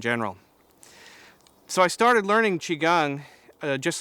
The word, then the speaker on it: Qigong: to spell it and I've heard it called qui gong and Qi Gong and ki Gong and other things like that the way we usually say it is just Qigong and even though it